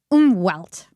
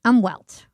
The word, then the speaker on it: Umwelt: And one of them is this concept of Umwelt, right? Umwelt. I think that's how you pronounce it. Umwelt. Yeah, that's it sounds German, right?